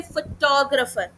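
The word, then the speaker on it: photographer: जैसे फोटोग्राफर। तो मैंने टॉ पे ज्यादा प्रेशर लगाया।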